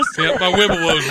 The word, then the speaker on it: Wibowo: My Wibowo's wobbly.